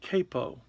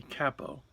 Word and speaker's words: capo: This is one type of capo. Some people say capo, but I think that that's a mispronunciation.